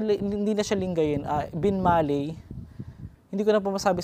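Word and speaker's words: Binmaley: inyo yung Barangay pagka Bin malay kasi ang ang bigkas ng mga tao dito matigas e panggalatok Bin Malay B malay Parang ganon Mga Master so correct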